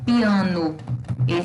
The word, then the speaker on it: piano: Quando eu tenho, por exemplo, piano, se escreve com O, mas tem som de U, tá?